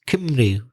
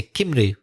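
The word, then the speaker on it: Cymru: I think I know how to say Wales in the Welsh language it's Kinley isn't it that's right yeah so it doesn't even sound like English Spanish sounds more similar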